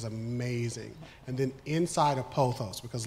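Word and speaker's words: pothos: to this panel continue poos p o t h oos spelled like pot host is that's that plan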